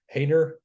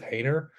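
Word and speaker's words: Haener: Hayner, I believe that's how you say it.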